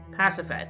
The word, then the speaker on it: Pasiphae: Pasiphae.